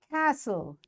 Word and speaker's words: castle: Castle, T is silent.